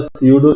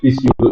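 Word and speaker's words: pseudo: হচ্ছে হোভারের মতো একটা পিসিউডো এলিমেন্ট আর কি, ওগুলোকে বলা হয়েছে পিসিউডো এলিমেন্ট বা পিসিউডো ক্লাস বলা আর কি, বা সিউডো ক্লাস, নরমালি পিতে উচ্চারণ হয় না, সিউডো ক্লাস বলা হ্যাঁ, হয়।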